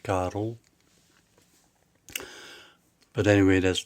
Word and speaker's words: Karel: Hello, my name is Karel, which is Carl, but in Flemish it's pronounced Karel.